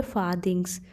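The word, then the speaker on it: farthings: और यहाँ पे आर्ट साइलेंट होता है तो इसे पढ़ेंगे फादिंग्स, यानी कि छुपा हुआ धन।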